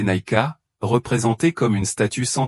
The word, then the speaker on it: Niké: Le voyage du voyager doré le conduit à la déesse Niké, prononcée Naika, représentée comme une statue sans tête entourée d'acrobates.